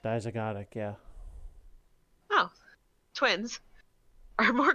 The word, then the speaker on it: dizygotic: Well, all I can think of is the broken pronunciation was a dizygotic. Dizygotic, yeah.